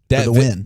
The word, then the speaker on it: Nguyen: Win.